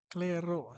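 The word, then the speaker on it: Clairaut: Claro, silent T daw ni.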